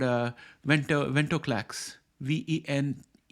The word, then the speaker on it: venetoclax: called uh winter ventoclax v-e-n-e-t-o-c-l-a-x I pronounce it as venetoclax you may pronounce it differently but that's the spelling